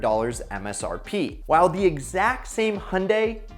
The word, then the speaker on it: Hyundai: while the exact same hyundai which rhymes with sunday kona electric has an